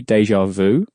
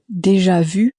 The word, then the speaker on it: déjà vu: Again, we normally in English say déjà vu. How would you say that correctly in French? déjà vu, Again, that same U sound is on the end, rather than a normal